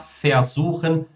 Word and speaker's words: versuchen: Muitas vezes eles são pronunciados só como fa. Posso pronunciar versuchen, versprechen, verlieren, verhindern, versehen.